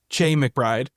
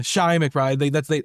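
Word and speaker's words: Chi McBride: His name is pronounced Shy. I always said Che McBride. I always called him Chai. Yeah. Yeah, Shy McBride.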